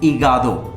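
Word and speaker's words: hígado: मैंने अभी आपको क्या बताया था, एच हमेशा साइलेंट रहता है, ठीक है, इगादो, अल इगादो, लीवर।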